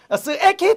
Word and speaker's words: 스에키: 스에키 토기라고 합니다. 스에키 토기. 발음 유의하세요. 선생님 앞에서 발음할 때는 조심해서 발음해야 돼. 스에키 토기라고 합니다. 스에키 토기. 토렉이 아니에요. 스에키.